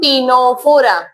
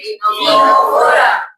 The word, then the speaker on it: Ctenophora: next phylum that is C silent टीनोफोरा क्या है repeat टीनोफोरा commonly known S सी